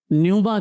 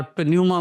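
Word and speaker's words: πνεῦμα: رواخ کہتے ہیں۔ صحیح۔ یونانی زبان میں اسے نیوما کہتے ہیں، اور بہت کم لوگ ہیں جو اس کے اصلی صحیح تلفظ کو جانتے ہیں۔ وہ کئی بار پنیوما بولتے ہیں، جو بالکل غلط ہے، کیونکہ پی اس میں سائلنٹ ہے۔ صحیح۔ یہ جو رواخ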